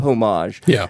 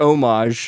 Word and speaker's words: homage: I'll just say I it's straight up homage and or homage. I think the H is silent. It's straight up homage by some pretty funny hombres or ombres, whichever one you want to say.